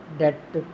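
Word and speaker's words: debt: बी हमने नहीं सुना, लिहाजा बी जो है वो साइलेंट कॉन्सोनेंट है, हम इसको नहीं लिखेंगे।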